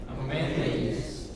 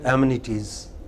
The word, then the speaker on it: amenities: what is it amenities next amenties not aminities some people say amenities